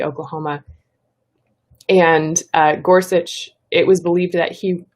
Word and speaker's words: Gorsuch: pronounce his name and there's a video of him saying it so that is how you say it gorsuch um he he actually